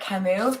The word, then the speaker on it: Camus: uh you mentioned Albert Camus I'm pretty sure the S is silent there's nothing to come